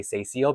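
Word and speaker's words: Cécile: Just in case people ever hear me talking, it's the same way I say Cecile because of that accent aigu.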